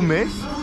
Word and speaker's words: Metz: En fait ça s'écrit Metz, mais ça se dit Metz, on m'a déjà reproché plusieurs fois.